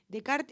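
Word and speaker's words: Descartes: por qué lo escribe de Kart es un filósofo francés si se escribe cartes filósofo francés que que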